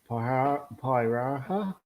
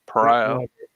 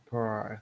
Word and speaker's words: Pariah: Then we got 40k Psychic Awakening Pyraha. Probably pronounced that wrong. So Pariah. Pariah, thank you.